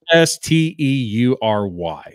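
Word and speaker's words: Esteury Ruiz: You probably butchered it. It's Estury.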